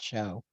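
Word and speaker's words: Shaud: represented by Brian C Rosen show and that's s-h-a-u-d and I've known people who pronounce it show uh Brian Walter Stoltz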